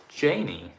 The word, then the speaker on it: Janky: The K is silent, so it's Janie.